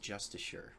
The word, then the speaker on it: Justicars: Um, so Justicars is spelled with an I and it's pronounced Justicure.